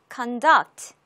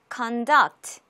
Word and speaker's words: conduct: conduct, conduct. 이음절에 강세가 있죠. conduct.